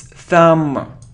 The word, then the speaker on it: thumb: or it isn't thumb it's thumb thumb so we don't pronounce b thumb okay good okay I